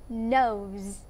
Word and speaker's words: nose: Nose. Nose. Nose. Ok, mình sẽ không đọc là nose đâu nhá. It's not. Ok, là chưa đúng. Mình sẽ đọc là nose. Z, z, z, z.